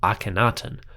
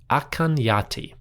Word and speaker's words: Akhenaten: a sense that the name was probably not pronounced Akenatan but rather something closer to Akanyati.